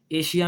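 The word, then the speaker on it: Asia: अब वो कह रहा है कि एस के बाद अगर आई ओ एन आ जाए आई ओ एन आ जाए या फिर आई ए आ जाए क्या आ जाए आई ए तो फिर भी शीन की आवाज आती है कैसे ये देखें सेशन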